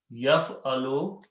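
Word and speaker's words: يفعل: So yaf'alu means he did. Fa'ala means to do. Yaf'alu, he did.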